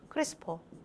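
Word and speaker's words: CRISPR: 자꾸 저는 이걸 크리스토퍼라고 읽어. 크리스퍼. 그 얘가 뭔데?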